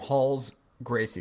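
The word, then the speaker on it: Rolls Gracie: there's a guy named Halls Gracie it spelled rolls but it's like traditional Brazilian that R is pronounced like an H in the beginning it's and so so Halls Gracie was a Brazilian Jiu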